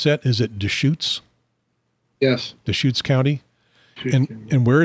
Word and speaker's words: Deschutes: Sarah White, operations manager for, how do we pronounce that? Is it Deschutes?